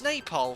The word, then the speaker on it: Nepal: the sound guys let me know nepal yeah pronounce napole thank you david and david is from nepal